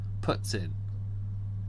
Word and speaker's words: poutine: I feel like she's trying to say putts and then in. She just completely screwed it up. I understand where you're getting the pronunciation from. I really do. But you're still getting it wrong.